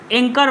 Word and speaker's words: anchor: एंकर का spelling क्या होता है, ANCHOR, एंकर बार, एंचोर बार नहीं है ना। इसको एंचोर नहीं पढ़ना है, एंकर बार पढ़ना है।